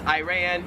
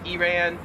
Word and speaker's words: Iran: same thing for the next one which is iran iran yeah just a minor difference 23 is fragile